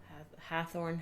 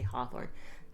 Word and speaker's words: Hathorne: suspect of the tragic Hathorne House fire. I have to remember how to pronounce it because I won't keep wanting to say Hawthorne. Hathorne.